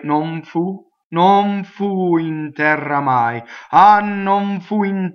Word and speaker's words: terra: Okay, terra, open E, double R.